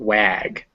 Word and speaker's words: wag: banan but banana now if it's after a w sound it's normally an ah unless it's followed by a k or a that's why we get words like want and watch but not wag um the this seems